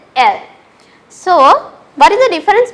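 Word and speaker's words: elles: Here also s is silent, so it is il, elle.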